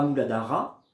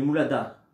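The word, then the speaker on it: Muladhara: je vais inspiré et je vais prononcer pas moubadara mais mou lada et je vais entendre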